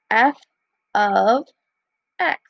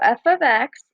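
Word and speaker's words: f(x): this is pronounced as f of x so whatever letter's on the outside is that letter so in this case it's f the parentheses is of and then whatever is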